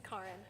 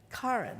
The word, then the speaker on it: Karin: It's Karin. Karin. It's okay. I have to write it looks like car.